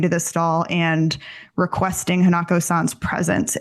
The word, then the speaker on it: Hanako-san: I believe it's pronounced Hanako-san. Hanako-san.